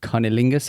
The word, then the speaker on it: cunnilingus: And cunnilingus, how do you pronounce it?